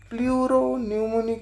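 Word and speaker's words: pleuropneumonic: सो blue green algae, mycoplasma, PPLO, प्ल्यूमोन्यूमोनिक like organism, प्लूरोन्यूमोनिक like organism, ये P silent है भाई।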